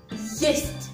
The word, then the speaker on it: есть: Tibia, yest, no es est, es ye. La letra es ye, por eso decimos yest. Y la última t se suaviza por el signo blando, no es que es naca.